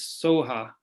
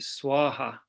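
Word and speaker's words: स्वाहा: And then usually the always end is Soha, or sometimes you would pronounce it Swaha. I think if you're being better at Sanskrit.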